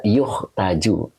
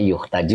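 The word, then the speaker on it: يُحتاج: Nah begitu ya, makanya dibaca Abdul Hamid yuhtaju atau yahtaju Ustaz, dibaca yuhtaju. Oke, jadi ini bacanya yuhtaju ya, jadi majhul ya, jadi dipakainya dibutuhkan ya, dibutuhkan.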